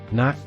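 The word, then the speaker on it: knot: letter the blue answer ನಾಟ್ ತಟ್ಟುವುದು silent letter can ನಾಟ್ breach ಸೇತುವೆ silent letter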